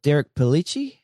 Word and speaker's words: Derek Pellicci: The other big personnel change that I want to talk about is, correct me if I say his name wrong, but is it Derek Pellicci?